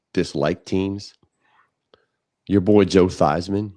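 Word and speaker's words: Theismann: Your boy Joe Thyman. Remember he changed the pronunciation of his name so it could rhyme with Heisman? Yeah, that's pretty cool. It was. It's Theman.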